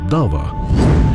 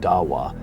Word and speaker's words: Da'wah: Ayan Hirsi Ali, author of The Challenge of Dawah and a vocal critic of radical Islam, highlights the fundamental role of Dawah, the Islamic practice of proselytizing. And you've written this book about it, The Challenge of Dawah, which I'm sure I'm mispronouncing.